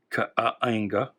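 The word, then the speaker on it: Kaänga: The dude is Kanga, although it's got these apostrophes on the second A, so I always pronounced it as Kaanga.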